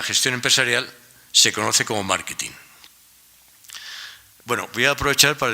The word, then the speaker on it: marketing: O sea, y entonces pues, había que explicarles, pues no, se pronuncia marketing, y mire, consiste en esto y lo demás allá y no sé qué.